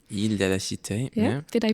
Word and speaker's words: Île de la Cité: Paris, on an island on the Seine called Île de la Cité. Île de la Cité, yeah. Did I pronounce that correctly?